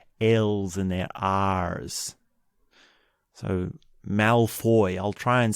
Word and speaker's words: Malfoy: I've been saying Malfoy with a bit of an R instead of a Mal... It's Malfoy, so there's no R.